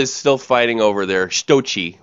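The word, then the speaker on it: Sochi: still fighting over there stoi that's by the way that's how you say it the stoi Olympics the the Big World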